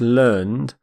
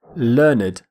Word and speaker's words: learned: an adjective we say learn it learn it we actually pronounce the e D ending completely which is quite unusual in English Learner a learned person